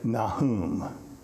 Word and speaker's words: Nahum: it's one of those today in hebrew they would say nahum back then they said they'd have to throw up and all this kind of stuff to pronounce it get that guttural sound let's go to the